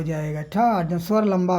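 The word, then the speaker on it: Tarzan: None रोटिक, जैसे torsion नाम हो गया, टार्जन में आर का उच्चारण नहीं होगा, इसके बजाय टार्जन, टार्जन, आ बड़ा हो जाएगा, टार्जन, स्वर लंबा हो जाएगा, ठा।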